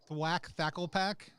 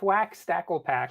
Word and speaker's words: Thwack Stacklepack: It is Thwack Thacklepack? It's a Thwack Stacklepack. That's right. Thwack Stacklepack.